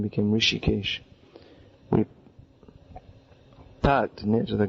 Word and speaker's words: Rishikesh: early start here now often devotees they mispronounce this as rishikesh and some people say that the name has derived from the name of the supreme lord harishikesh beginning with an h actually the name is rishikesh rishi meaning a great